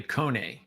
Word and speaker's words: Kone: It's actually Kone. Okay. So there we go. I was wrong on both pronunciations.